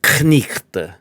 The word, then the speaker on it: knight: Chaucer's English is pronounced knichte, right? You pronounce all these consonant clusters that we've kind of, after the great vowel shift, we just kind of stream right over.